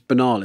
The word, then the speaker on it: banal: It's banal, isn't it? Not baynle. Is it? Yeah. Banal, yeah. I pronounce a lot of words wrong. I would have said baynle, but then I heard someone else say banal, and I was like, fuck me, I'm really wrong with it.